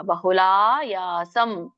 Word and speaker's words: ಬಹುಲಾಯಾಸಂ: ದೀರ್ಘ ಇದೆ ತಕೆ ಎಳಿಬೇಕು ಬಹುಲಾಯಾಸಂ ಲಾ ದೀರ್ಘ ಯಾ ದೀರ್ಘ ಬಹುಲಾಯಾಸಂ ತದ್ರಾಜಸ ಮುದಾಹೃತಂ ತದ್ ತದ್ರ